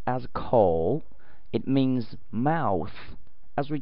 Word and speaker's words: 口: This part, it is pronounced as 口.